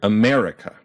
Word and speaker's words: America: In the word America, we punch that mer, and it'd be very weird if we did that to another syllable, like America or America.